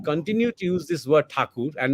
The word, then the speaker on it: Thakur: this word Thakur and not Tagore just because I'm talking in English, because Thakur is the name. And this is it's a bit shameful that we Indians and Bengalis continue to use the distorted pronunciation that the Europeans had started because they could not pronounce.